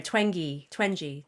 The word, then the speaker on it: Twenge: Oh yes, gosh, I always forget how to pronounce her name. Twenge.